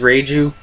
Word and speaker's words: Reiju: And then, you know, he got his reuniting with Reiju or Reiji, however you pronounce it. I know there's been some translation, blah, blah, blah, blah, blah. But I think it is Reiju.